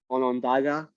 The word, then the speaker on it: Onondaga: Am I pronouncing that right? Onondaga?